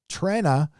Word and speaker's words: Trenna: Trenna is pronounced Tren, like Tren Guthridge, for $5.